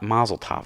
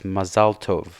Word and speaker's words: mazel tov: it the same way so they go mazel tov it's not mazel tov it's masaltov so that's how it's supposed to be pronounced anyway but that's a